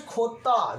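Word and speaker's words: jota: J is pronounced in Spanish language Khota.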